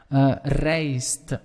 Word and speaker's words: rijst: Rijst. The rijst would be rice. Remember that I and that J, you want to pronounce it as an English A.